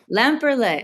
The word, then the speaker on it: Lemper: to ask you that L lamper okay I was like it looks French but it it is German my family checked it's